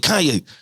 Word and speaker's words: Kanye: i said before i even knew how to pronounce the name like that was kane west that he had the accident i seen